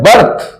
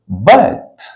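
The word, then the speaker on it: birth: पर T constant है इसलिए इस आर का उच्चारण नहीं करेंगे हम लोग क्या बोलेंगे हम लोग बथ बथ जनम जन्म हम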